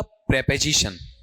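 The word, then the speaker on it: preposition: जानकारी आपको दी थी बताओ इसका उच्चारण क्या रहेगा बोलो देखें क्या पढ़ोगे इसे प्रीपोजिशन या प्रपोजिशन प्रपोजिशन ठीक है और यह सबको पता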